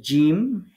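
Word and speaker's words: ج: যেখানে এগুলো লেখা থাকবে তো জিম শিন এবং ইয়া তাহলে তিনটা হরফ জিহ্বার মাঝখান থেকে তার বরাবর উপরের তালুর সাথে লাগিয়ে শক্ত করে উচ্চারণ করতে হবে এই কথাটা সুন্দর করে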